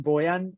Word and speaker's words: Bojan: Yeah, so my name is actually pronounced Boyan, and for shorter for everybody, because like the J is silent and it's confusing everyone, I started going by, which is easier.